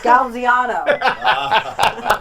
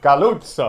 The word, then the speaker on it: Galluzzo: Galziano. Is that it? No? Perfect. No, how do you say it? Galluzzo.